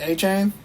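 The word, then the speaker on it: Achane: 434 maybe and then a chain 432 you pronounced his name right I did a chain yay so proud thank you thank you I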